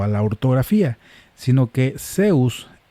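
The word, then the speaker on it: Ζεύς: El nombre Zeus en griego comienza no con un sigma, sino con una Z que escribe en mayúsculas como Z. Tiene el sonido no de la Z en español, sino como la letra en inglés.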